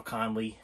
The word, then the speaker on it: Connelly: If you've ever seen Labyrinth, David Bowie, Jennifer Connelly, did I say it right? Jennifer Connelly, yes, okay.